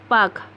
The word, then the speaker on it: Palk: पाक को इंग्लिश में लिखते हैं PALK, पाक। तो यहाँ पे L साइलेंट होता है।